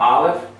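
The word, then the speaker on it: Aleph: so here we have Olive it's a silent letter without the vowel marking so I can actually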